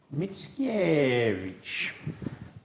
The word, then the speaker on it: Mickiewicz: Others among you may have barely heard of its unpronounceable author, Mickiewicz. In his neck of the woods, they elongate the penultimate syllable.